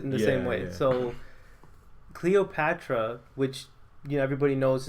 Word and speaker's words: Cleopatra: cleopetra CLE am I saying her name Catra Cleopatra yeah Patra you're saying it right uh how